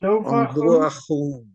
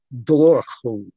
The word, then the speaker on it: Dobhar-chú: Dobhar-chú. Oh, yes. That's not too bad. Dobhar-chú. Dobhar-chú, yes. The first bit actually can be pronounced Dobhar-chú. That's the way they pronounce it in Cork.